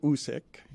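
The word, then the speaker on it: Usyk: how to pronounce his name uh it's Alexander usk it's how you pronounce his name yes and he is that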